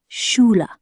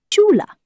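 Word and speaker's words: Schule: In German, school is shula. Chula. Sounds like shula.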